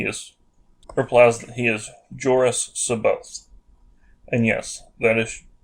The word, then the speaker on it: Jorus: replies that he is jorus sabote and yes that is jorus with a j sound and not an h sound like horus now that means nothing